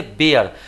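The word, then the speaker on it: bare: यहाँ पे इस ए का उच्चारण जो है क्या इसे पढ़ेंगे, इसको पढ़ेंगे क्या, इसको बेयर, क्या पढ़ेंगे, बेयर। तो इस अ का उच्चारण जो है अ ए अ, बेअर, अर्थात ए अ का उच्चारण किया जा रहा है।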